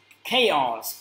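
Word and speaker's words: chaos: cháu trả cô ba Mình phải đọc là Kayo mình là sự hỗn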